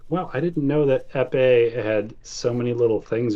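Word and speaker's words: épée: bigger than an epee, if I'm even pronouncing that right. Yeah, epee.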